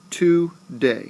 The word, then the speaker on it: today: Do you hear how the second syllable of day, my voice actually rises? Today. Today. That means that the first syllable of to, is an unstressed. I did not put emphasis on to. Today. I put the emphasis on day.